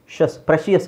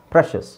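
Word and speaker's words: precious: ಮಲಿಶಿಯಸ್ ಶಸ್ okay ಆಮೇಲೆ ಪ್ರಶಸ್ ಪ್ರಶಿಯಸ್ ಅಂತ ಹೇಳ್ತಾರೆ ನೋ ದಟ್ಸ್ ರಾಂಗ್ ಪ್ರಶಸ್ ಓಕೆ ನಾನೇ ಅಡ್ಡ ಹಾಕ್ತಿದ್ದೀನಿ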